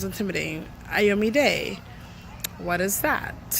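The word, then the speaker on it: Iyome Day: And what we do is we say it slowly for others to get it, and then we spell it out. and it's I, the letter I, Yo, Y-O, me, M-E, Day, D-A-Y.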